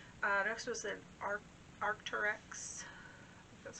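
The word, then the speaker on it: Arc'teryx: for a while uh next was an art arcturex that's how you say it dress um it's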